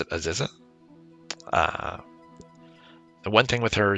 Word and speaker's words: Aziza: All right, so now with, I pronounce it Aziza.